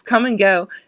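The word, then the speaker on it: Kum & Go: It's come and go, except for it's spelled KUM instead of Damn, CUM.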